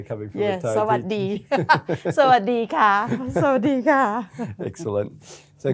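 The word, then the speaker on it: สวัสดี: You can say the Sawatdee, that sounds better coming from a Thai Sawadee. Sawadee ka.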